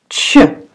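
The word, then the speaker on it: Ч: So the first is letter CH, CH, like chips.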